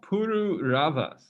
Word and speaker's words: Pururavas: When King I don't know how to pronounce that name. It's Pururavas.